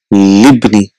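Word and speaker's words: لابني: We know Ibnun and Ismun, they have Hamzatul Wasl, so that is not pronounced, so it is a Libni.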